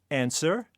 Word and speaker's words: answer: Finally, raspberry, answer, Neil.